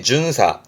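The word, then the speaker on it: 巡査: 이게 순사 조사할 사자니까 돌아다니면서 조사하는 순사 흔히 다른 말로면 뭐 순경 내지는 경찰관 그때 쓰는 순사인데 발음이 준사 준사이 준사라는 단어도 N2 정도에 많이 또 보여지기도 합니다.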